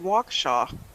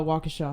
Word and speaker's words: Waukesha: reported waukesha a whole bunch of them what where the